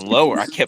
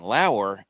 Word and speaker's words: Lower: And then turned out that was the wrong pronunciation. It's Lauer.